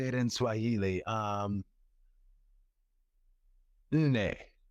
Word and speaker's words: Nne: Nne. That's it. I got it. My baby gave me that. Yes, inne. N-N-E. Nah. Anyway, that's how you say four.